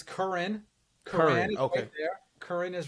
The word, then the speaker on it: Curran: you're good it's it's current current okay current is right there I've had it Koran korane current is how we pronounce it I don't know how